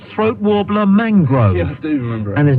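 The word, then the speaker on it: Throatwobbler Mangrove: he goes no no my name is spelled but it's pronounced throat warbler Mangrove I do remember and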